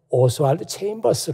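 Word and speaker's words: Oswald Chambers: 벌써 목사님을 얘기하는 겁니다 우리말로는 오수 활도 잼 벗으라고 이렇게 얘기하는데 그보다는 오스왈드 체임버스 라고 그렇게 영어식으로 발음한 게 좋을 것 같아요 거기에 지금 사진의 한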